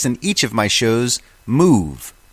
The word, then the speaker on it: Muv: each of my shows, Move. Move is spelled M-U-V.